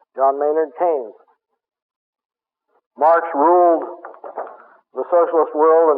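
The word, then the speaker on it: Keynes: John Maynard KES ke y NES KES it's pronounced John Maynard KES Marx ruled the Socialist world and KES ruled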